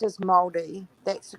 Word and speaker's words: Māori: It's pronounced as Māori.